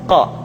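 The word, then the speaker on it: ق: Huruf Qaf diucapkan dengan cara menyentuhkan pangkal lidah kita dengan langit-langit bagian belakang. Qa, qi, qu, balq. Diucapkan dengan suara yang tebal dan dalam posisi sukun, maka terdengar pantulan suara.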